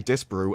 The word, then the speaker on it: Disparu: pronounce that disparu or I say well this is the thing I say disparoo I've always said that